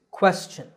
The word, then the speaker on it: question: Well, the correct pronunciation is question. The first syllable is made with a k combined with a w sound by rounding your lips. Quest. The second syllable is chin, like your chin. So this word is question.